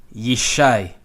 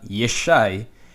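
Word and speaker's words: ישי: rose rose yes shy Yishai ye shy and the reason why is you shy and not yes shy is because there's no schewe there's no pause so even if these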